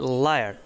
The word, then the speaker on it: liar: তারপরে হচ্ছে লায়ার, LIAR লায়ার, এখানে কিন্তু আইয়া উচ্চারণ হচ্ছে।